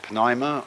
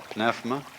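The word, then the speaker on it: pneuma: The Greek word you may pronounce it pima or pinefma is the same as spirit and spirit means breath.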